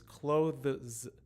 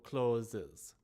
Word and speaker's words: clothes: so like i says the correct sound is clothe three quick sounds not the two sounds of clo closes closes right so the bottom one is incorrect